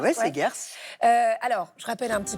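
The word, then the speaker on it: Seghers: C'est aux éditions Segers, je prononce bien Segers? Oui, Segers.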